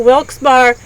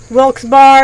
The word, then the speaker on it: Wilkes-Barre: until September 21st 1837 there are various ways to pronounce the town in Pennsylvania one of them is wilkes-barre and other ones wilkes-barre it can be pronounced looks very if it's the last word is French it could be Volks beret you never know on the final side